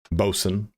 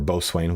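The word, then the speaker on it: boatswain: Um, mariner, bosen, or bosane, whichever one you want to pronounce it as, and then shipmaster.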